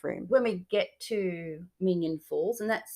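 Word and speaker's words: Minyon Falls: When we get to Minion Falls, and that's spelled Minyon, and go and have a look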